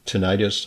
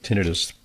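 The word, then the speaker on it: tinnitus: number of Americans uh sometimes referred to as tinidis or tonitis. I think tinidis the more commonly accepted pronunciation and you know it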